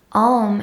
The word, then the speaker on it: Om: version of the mantra ohm is actually comprised of three separate syllables ah-oh and mmm with the lips closed so if you were